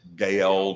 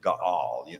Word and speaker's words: Gaal: A lot of people have a tendency to pronounce it Gael, but it's not, it's Gaal. Normally with some of the Hebrew terms and Hebrew names, even when you have one like that, you have two syllables where it looks like one, but you actually got two. And especially the way this one is fixed, it's like many others, the emphasis is upon the second syllable, Gaal.